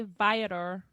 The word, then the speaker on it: Viator: And I went with a group of people, but thanks to however you say Viator. Is that how you say it? The tours? Viator.